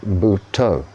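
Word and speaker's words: Buddho: they use the Mantra buto which is like Buddha but spelled b u d d h o and the D is kind of pronounced toe along the saxo but toe uh the the relevance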